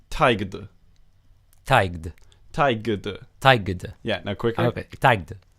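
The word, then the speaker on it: taighde: So this is pronounced taigd.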